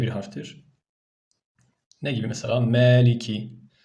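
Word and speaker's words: مَلِكِ: harftir Ne gibi mesela Meliki buna Maliki demeyeceğiz Kimileri adam imam Tabii okuyor maliki yevmiddin diyor doğru değil me diyeceğiz arkadaşlar Meliki yevmiddin nun arkadaşlar N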